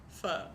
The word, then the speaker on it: pho: You pronounce it pho.